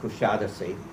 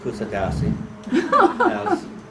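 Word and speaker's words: Kuşadası: evening will be overnight there in coushatta see please resist the temptation to pronounce kusadasi many people do following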